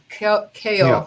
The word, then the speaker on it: Keough: Elvis Presley's grandson, who was Riley Keough. How do you say it? Keough. Yeah. I don't know how to pronounce that last name.